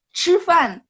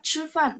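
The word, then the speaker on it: 吃饭: CH bunyinya C, lidahnya diangkat. C, cifan. Kalau teman-teman ada yang pernah belajar, cifan, makan. Itu pakai angin.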